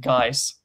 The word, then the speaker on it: Guise: Hood, but every single person in, like, real life that I have heard pronounce that pronounces it Geese.